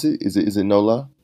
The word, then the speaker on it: NOLA: Is it NOLA? NOLA. NOLA. Okay, NOLA. Like you're saying New Orleans?